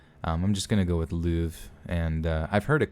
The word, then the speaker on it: Louvre: don't know when because it also said that it was English pronunciation was Louvre which almost sounds like